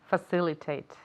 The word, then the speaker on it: facilitate: Facilitate. Qué crack. Facilitate. Another 5 points. Facilitate. La C se pronuncia como S.